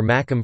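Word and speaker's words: Mackem: However, a Macomb would pronounce make to rhyme with mac or tack, hence the origin of the term Macomb.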